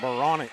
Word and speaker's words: Baranek: Joseph Baranek coming into the ball game. I got a pronunciation correction on that. Yeah. What is it? I still don't remember. It's more like Baronic.